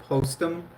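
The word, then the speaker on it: Postum: It it is called Postm. It was made by Post Cereal. It's spelled P O S T U M.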